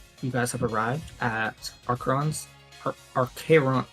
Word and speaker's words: Arkheron: Aron's library. Yes, that is spelled A R K H E R O N.